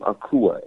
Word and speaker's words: Akua: can hit me up there my first name is spelled last name akua a-k-u-a uh i will be in philly uh